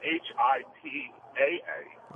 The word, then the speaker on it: HIPAA: It's H-I-P-A-A. Oh. For the HIPAA law he was talking Oh, so that's pronounced how?